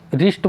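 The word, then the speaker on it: wrist: अब यहाँ राइस्ट है ना, तो डब्लू रिस्ट बोलते हैं हम, सिर्फ इसे रिस्ट नहीं बोलेंगे क्योंकि डब्लू का हम यूज नहीं लेते, डब्लू इसमें साइलेंट है।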